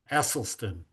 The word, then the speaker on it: Esselstyn: Esselstyn. Okay. Thank you. Scott set me straight on how to pronounce it.